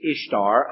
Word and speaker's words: Ishtar: pronounce it Easter uh the spelling if you transliterate it from the Babylonian is Ishtar i-s-h-t-a-r but they pronounced it the same way you know that's where